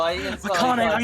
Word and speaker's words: AI: ai the somnium files is still on the xbox game pass and also it's pronounced i the somnium files oh really you know like your eye like a japanese word for love there's going to be